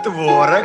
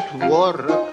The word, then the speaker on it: творог: каталог а только каталог а творог можно творог А можно и творог А если в магазин